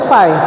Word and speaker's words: phi: और उसको डिनोट कैसे करते हैं, फाई, मतलब ये जो होता है PHI, इसको हम पढ़ते हैं क्या, फाई, प्रोनाउंस क्या करते हैं, फाई, ठीक है ना।